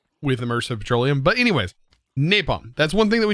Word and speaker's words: napalm: to be napalm and yes i did pronounce it wrong in the last video if you made it through there all the way um i for some reason said nafta i don't know why i said nafta uh maybe because it's